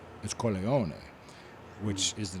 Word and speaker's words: Corleone: Corleon. Corleone. Mhm. It's Corleone, which is the name of the town.